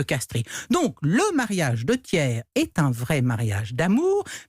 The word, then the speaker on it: Thiers: t à ce prix on dit donc tiers parce qu'on n'entend pas le tiers c'est comme la prononciation resituant latin faut pas charrier adolphe thiers cfa non tiers alors après la mort